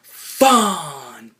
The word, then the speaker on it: Fandango: He's like, "My name is Fandango." Fandango. We gotta let the A's breathe.